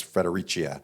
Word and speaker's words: Fredericia: Brioni, SumUp, SunGod, and obviously our friends from Fredericia. So I'm getting better. The Italians want to pronounce it as Fredericia, so we've been all a little confused there.